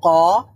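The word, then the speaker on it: ق: উপরের তালুর সঙ্গে লাগলো কফ বলার সময় কিন্তু যখন আমরা কাফ বলবো তখন কিন্তু ওই জিহ্বার গোড়াটা উপরের তালুর সাথে লাগবে না এখানে জিহ্বার গোড়া থেকে কিছুটা সামনে আগাতে হবে কিছুটা সামনে আগিয়ে সেই অংশটা উপরের তালুর সাথে লাগবে তখন গিয়ে কাফ উচ্চারণ হবে একটা হচ্ছে কফ আরেকটা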